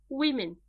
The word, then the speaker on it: women: Difference in the pronunciation. Woman, women. A foot, two feet.